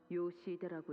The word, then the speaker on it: Yoshihide: 아니, 그 글자는 그렇게 읽는 게 아니라 요시대라고 읽는 거다. Yoshihide is how you read my name.